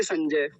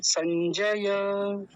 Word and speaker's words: संजय: ऐसा लिखा जाएगा संजय लेकिन संजय ऐसा थोड़ी है संजय ज पूरा रहेगा जैसा लिखा हुआ है वैसा ही संजय अब एक ब फिर